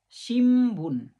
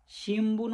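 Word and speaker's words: 新聞: Letter আগে যদি উন থাকে তখন ওই উনের উচ্চারণ ম হয়ে যায়। যেমন এক্সাম্পেল শিমবুন শিমবুন এখানে বুই এর আগে উন আছে সেজন্য এটা ম হয়ে গেল শিমবুন সিম্বুন মানে নিউজপেপার এরপরে আছে এমপিসু এম পিতসু এটা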